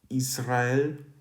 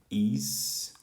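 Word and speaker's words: Ισραήλ: So I'm going to write out Israel. That is this. Is-ra-el. That's sort of the classical Greek pronunciation, or in the modern Greek, Israel.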